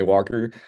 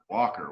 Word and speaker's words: Walker: Walker. What's wrong with that? Walker. I spelled Walker. The L. Who the fuck pronounces the L?